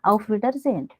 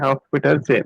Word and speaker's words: Auf Wiedersehen: Like I'll say, for example, this is pronounced as Auf. You can practice like first three words. Auf. Auf, Auf. Wieder, Wieder, Wieder. Sehen. Zen. Yeah, Auf Wiedersehen. Okay. Auf Wieder Zen.